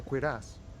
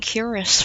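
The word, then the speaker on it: cuirass: the gauntlets and the quass this is where I left off too much hassle more like a job for some milicia it's pronounced qu ass I've been saying curus for the longest time well four pieces helmet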